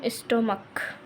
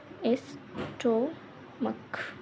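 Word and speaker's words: stomach: भले सी एच हो लेकिन साउंड काय का निकल रहा है? का।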